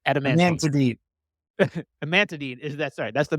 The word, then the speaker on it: amantadine: not even G to say it right adamine amantadine is that sorry that's the medication right I was trying to think of the it's amantadine and Radine which are in the adamantine derivative